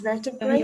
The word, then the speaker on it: vertebrae: Vertebra, one vertebra. And a number of vertebrae or vertebrae. It can be re or re here.